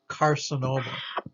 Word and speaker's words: carcinoma: that soft c sound the hard c sound the k or almost like the k sound like we talked about before the word begins with the c but it's followed by all those other vowels o and u or consonant is most commonly uh hard c or k sound carcinoma carcinoma so here's a c followed by an a carcinoma carcinoma just means cancer card